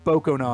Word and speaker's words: Bokanon: Does anyone know, do you pronounce it Bakanon or Bokanon? Is that an O? Bokanon? Bakanon? But he does finish it first. He finishes first, regardless of the pronunciation. So however you say it, declare him first to clear Donkey Kong. All right, I'm seeing in chat that I'm seeing lots of Bokanon. Boko, okay.